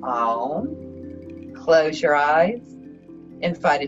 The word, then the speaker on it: Om: If you choose to OM with us this morning, we're going to pronounce it AUM, OM.